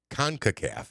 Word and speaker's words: CONCACAF: Kafka info oh con concacaf is how you say this concacaf the United States